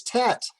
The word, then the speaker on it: Tet: Okay, the next letter is tet. It makes the sound of T, the letter T.